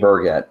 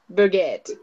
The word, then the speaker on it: Burgat: pronounce your last name Berget Berget exactly as it looks and I'm I'm not entirely 100% sure that's the way it's supposed to be pronounced it's a French origin so bget yeah maybe I I